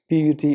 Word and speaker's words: put: P-U-T is not put, it is put.